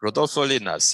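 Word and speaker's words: Rodolfo Llinás: What about the work of Rodolfo Linnaeus? Am I pronouncing his name right? Rodolfo Linnaeus, yes.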